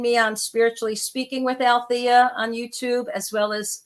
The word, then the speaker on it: Alethea: And Alethea is spelled funny. It's ALETHEA. That silent E is the only thing quiet about me, because as you can tell, I do like to talk a lot.